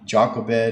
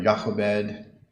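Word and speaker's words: Jochebed: uh Jacobed or Yakobed depending how you pronounce that here in verse chapter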